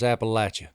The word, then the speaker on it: Appalachia: football game I said sir that's Appalachia it's it's commonly mispronounced you're not alone okay does that run